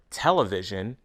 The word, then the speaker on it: television: listen decision impression opinion there's one common exception the word television has stress on the first syllable listen to these nouns